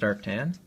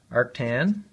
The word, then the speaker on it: arctan: equal to the inverse tan well actually it's pronounced arctan arctan of the coefficient of friction